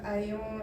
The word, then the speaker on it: ayant: que ça commence par ayant été surchargé du travail. Oui, c'est bien. Mais juste, je vous rappelle que A-Y, vous le pensez comme A-I-I. Le A-I, c'est déjà E. Donc, comment on prononce? Ayant.